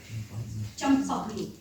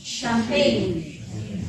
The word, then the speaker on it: champagne: knew a person who used to pronounce the word jump stop me I will not blame him because that's how words are pronounced in English but this word of origin is a difference it's a French word and therefore it is called champagne right so it's very important